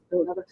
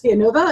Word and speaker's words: Villanova: girl who applied to Villanova, we were talking about it and she kept calling it Villanova, because you don't pronounce the L's. Yeah. And she goes, Villanova, and I'm going, where?